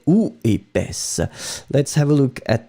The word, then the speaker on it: épaisse: Feminine form, épaisse, s. D'accord? The S, don't go too far, I mean too much on it, but still it should be present, hein?